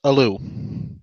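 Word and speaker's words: ALU: which is really annoying and his name is pronounced Aloo excellent and next up is Baron what's up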